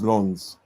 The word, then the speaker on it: Lens: It's actually um pronounced as Lans.